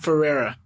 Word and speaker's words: Ferreira: I still mispronounced it I say so fast pronounce your last name for everybody for era okay yeah we'll call you from the